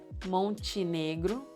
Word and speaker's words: Montenegro: NTE sounds like E, Montenegro.